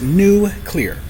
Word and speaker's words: nuclear: to say things like if you don't pronounce the word nuclear correctly, you must have a speech impediment. And when I hear people on NPR, on Fox, anywhere if it's because it's new clear, like it's really [